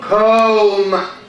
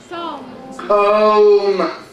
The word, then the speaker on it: comb: Comb. Comb.